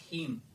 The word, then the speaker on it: hymn: और इसका नाम है पोएम का, वो है फायर हिम। देखिए नाम से स्पष्ट है, फायर हिम। यहां पे इन साइलेंट हो जाता है, फायर हिम।